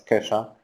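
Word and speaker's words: Ke$ha: very creative so here here's Kesha which we need to understand that it should be pronounced as Kesha even if the dollar is inside of it cas's latest single is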